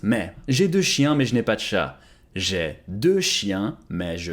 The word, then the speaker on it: mais: M-A-I-S, but it's pronounced me.